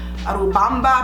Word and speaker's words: Urubamba: Had a beautiful view of the river, Urubamba, I believe that's how you pronounce it.